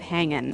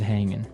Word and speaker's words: hanging: G right yeah but usually you don't really pronounce the G in this context cuz it's very informal so how's it hanging how's it hanging so he said everything